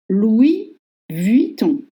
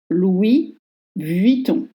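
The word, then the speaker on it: Louis Vuitton: on the first dior Louis Viton Louis Viton is hard because first you don't pronounce s of Louis L and Louis Louis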